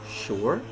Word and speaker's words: sure: Some words, though, are written with an S and pronounced with SH, as sugar, sure, while other words that are written with CH are pronounced sh, as in chef or Chicago.